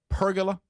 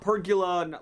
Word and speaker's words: pergola: You guys were saying it like it rhymed with Dracula, but it doesn't rhyme with Dracula. Is it pergola? Pergola. Yeah. Per pergola. Not pergula. Like Dracula. It's not like that.